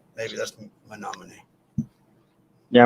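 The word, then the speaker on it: Menomonee: You cannot pronounce it unless you hear somebody pronounce it because it is not the way it's spelled at all. Menominee.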